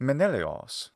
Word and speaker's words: Menelaos: And the Laos was often Leos instead, especially in compounds. Thus, this name in classical Attic is in fact Menelaos.